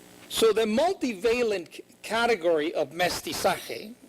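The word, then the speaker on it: mestizaje: the multivalent category of mesti sake and that's how you pronounce it mestiza for the purpose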